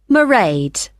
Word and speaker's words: Mairéad: I won't be working then, so you'll see my assistant, Mairéad. Sorry, how do you spell that? It's m a i r e a d. Mairéad.